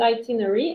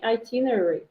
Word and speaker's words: itinerary: it's a longer word you said itinery itinerary itinerary a little bit longer no yeah you had